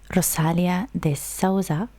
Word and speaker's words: Rosalia de Souza: So we are going to be listening to another Rosalia de Souza. That's how you pronounce her name.